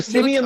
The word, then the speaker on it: Siemian: How do you say his name? Trevor Siemian. So Trevor Siemian. Trevor Siemian like a monkey.